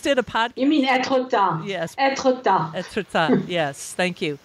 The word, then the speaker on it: Étretat: I'm going to make a mistake of my pronunciation, but I call it Étretat. But I know you just did a podcast. You mean Étretat.